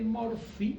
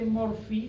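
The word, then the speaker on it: Murphy: es la maniobra de morpi se escribe con pH y por favor La maniobra de morpi la pueden hacer en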